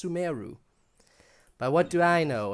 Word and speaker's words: Sumeru: I'm used to calling it Sumeru, okay? But apparently it's pronounced Sumeru.